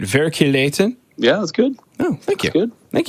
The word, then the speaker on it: Verkligheten: Verkligheten.